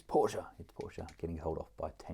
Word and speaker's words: Porsche: He told me off for calling it Porsche. He said, it's Porsche, getting told off by a 10-year-old for my pronunciation.